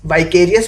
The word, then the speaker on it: vicarious: विकेरियस, वाइकेरियस pronounce करते हैं इसको, विकेरियस एक बार के लिए बोल के देखिए, वी केयर।